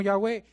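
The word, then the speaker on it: Yahweh: existencia en sí mismo una abreviación allá web lo que podemos pronunciar como ya ve ya dice él que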